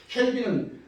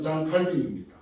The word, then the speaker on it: 칼빈: 켈빈은 미국식 발음이고 장 칼빈은 원래 그 프랑스 말하면 장 칼빈입니다.